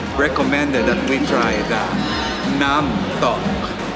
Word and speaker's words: Nam Tok: She's the sales manager here in Discovery Samal, and she recommended that we try the Nam Tok.